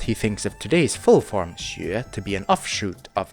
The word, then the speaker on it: 學: as being closely linked 學 rhymes with 覺 , and 教 is